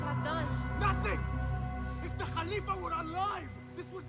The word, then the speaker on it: caliph: So when like we would read that as Caliph, but the way they pronounce it as Khalif, they use a lot of like lazy lazy motions in your voice, in your vocal cords.